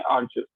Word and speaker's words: arduous: वैसे आप इसको चाहे वो आर्जस प्रोनाउंसिएट करते हो, ये है आर्जस, ARDUOUS।